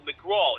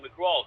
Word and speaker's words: McGrath: Also, one I recommend McGraw. It's spelled McGrath, but it's McGraw who wrote the book Asylum, which is fantastic.